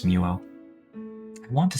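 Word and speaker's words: Mewo: I say it like Mew, like the Pokémon, and then I add an O, so it's Muo.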